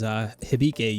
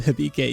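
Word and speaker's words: 響け: And that is Sound Euphonium, or I believe the Japanese pronunciation of this show is Hibike Euphonium, which Hibike, does that mean like echo?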